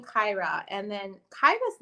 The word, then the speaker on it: Kyra: r a and unfortunately her name gets butchered a lot a lot of people will call her kira instead yeah that's the way it's spelled um but something about the name kaira and then kaija's name